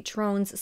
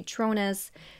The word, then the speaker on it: Tronnes: man named David trones whose last name I have seen pronounced differently literally within the same courtroom some people would say trones some people would say tronis I'm not exactly sure but I'm just going to say trones because that's what I